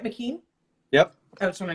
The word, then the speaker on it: Mckean: So Scott Mckean, am I saying that right, Mckean? Yep. I just want to make sure I'm pronouncing it right.